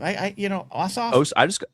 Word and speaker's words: Ossoff: Ossoff.